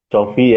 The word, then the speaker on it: Cofi: Perkenalkan nama saya Cofi ya, bukan kopi.